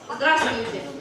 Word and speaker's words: здравствуйте: So this word is здравствуйте. 3 syllables. Здравствуйте.